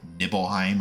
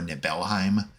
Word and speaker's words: Nibelheim: of a reactor in Nibelheim or Nibelheim. Probably the latter pronunciation is preferable because it's, think the word nibble, saying nibble makes it feel less serious.